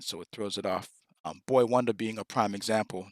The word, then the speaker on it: Boi: They didn't know if it was boy. They didn't know what it meant. tell you how to say it. No, it's BOI, just like Big Boy from Outkast, boy, then the number one, then the.